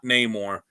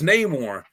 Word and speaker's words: Namor: It's It's not Neymar. like they they couldn't even get an actor that could pronounce the name, you know, Neore. No, it's it's Neymar.